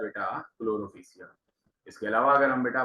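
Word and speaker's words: Chlorophyceae: एक है जिसको हम लोग क्या कहते हैं, क्लोरोफिशिया कहते हैं। क्लोरोफिशिया, PHYCEAE, ठीक है, थोड़ा सा स्पेलिंग ऐसी है।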